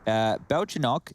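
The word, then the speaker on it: Бельчонок: So, Belchinok, that's little squirrel in Russian. We're learning so much here. That's adorable. With the stress on the first O, not the second O.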